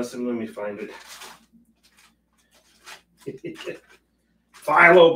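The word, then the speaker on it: phthalo: let me find it phyllo blue I think that's how you pronounce it Silo blue unpronounceable blue as I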